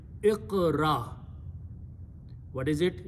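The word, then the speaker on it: اقرأ: So first thing is that I'm going to put an alif in the beginning with a zair. Second letter has a sukoon, so it will be pronounced as iq. Third letter has a zabar, this one. Fourth letter has a sukoon. So the pronunciation will be Iqra.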